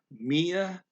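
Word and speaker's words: μία: And then he says, Mia Mara. Okay, Mia is a two-syllable word. And it is evenly pronounced. It's not pronounced Mia, it's Mia. Mia, two evenly, that means one.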